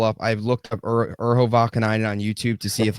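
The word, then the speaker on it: Vaakanainen: Kakko scoring and Kakanani and Kakananian. How do you say his name? Kakananian. Am I even close with that? Urho Vakanainen.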